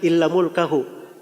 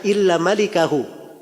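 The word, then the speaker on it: إلا مالكه: dia keliru Salah baca albukhari itu gak bilang illa mulkahu Dia berkata illa malikahu tulisannya sama mim laf lam Kaf ha tapi cara bacanya yang beda dia bacanya illa mulkahu ya kalau bacaan yang benarnya illa malikahu kecuali pemilik wajah gak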